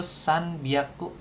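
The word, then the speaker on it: 三百: Nah, ini kalau 300 san biaku.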